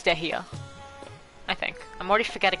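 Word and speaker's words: Dehya: Deha. Oh wait, no, it's Dehia. I think. I'm already forgetting how the lady pronounced it.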